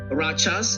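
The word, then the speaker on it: Rachas: the 14th in the village of um Rajas is spelled R A C H A S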